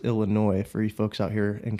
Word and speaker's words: Illinois: and it's it's pronounced Illinois free folks out here in California who call it Illinois's that's not do that people do that yeah that's rough I'm surprised the S is silent and you know there's